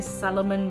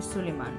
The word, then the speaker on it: Suleiman: I will probably put here at the bottom how to spell it, because normally people say Solomon because it's spelled almost like Sullivan, but it's actually Suleiman.